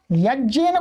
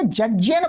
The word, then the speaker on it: यज्ञेन: ध्यान देंगे, लोगों ने क्या कर दिया, यज्ञेन को जज्ञेन बोल, वेद पाठियों ने कर दिया। ये क्या है, उनके अध्ययन माने सिद्धांत को न जानने के कारण है। ये कोई सही उच्चारण नहीं है वास्तव में।